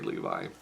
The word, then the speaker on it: Levi: cuz like some people I've heard him say levy and I have heard Levi but if he says it's Zachary Levi then it should be Zachary Levi but he was very friendly with all the